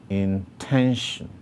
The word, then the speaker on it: intention: behind the syllable 10, meaning that the place with the greatest emphasis or prominence is the syllable 10. So this word is intention, intention.